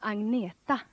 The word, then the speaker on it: Agneta: Hello, I'm Agneta. I know it's very hard for you to pronounce, but you can say Agneta or you can say Anna.